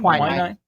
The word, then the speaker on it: quinine: The main ingredient in tonic is how is that pronounced? Quinine? Quinine.